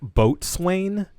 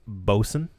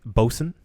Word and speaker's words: Boatswain: this brand uh i know it looks like boat swain but it's actually pronounced boson see there you go again yeah really sorry